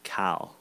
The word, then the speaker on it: Kyle: all mispronounce his name it's not Kyle with two syllables it's cow cow cow Lowry that's just that's